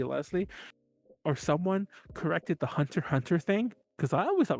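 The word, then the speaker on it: Hunter × Hunter: time we watched it i called was calling hunter x hunter and she's like it's hunter hunter i was like i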